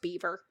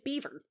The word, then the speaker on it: Belvoir: It's pronounced beaver.